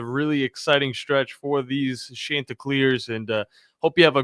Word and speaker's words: Chanticleers: If you don't pronounce it Chanticleers, he's going to be very upset. The Chanticleers, not the Chanticleers. Chanticleers.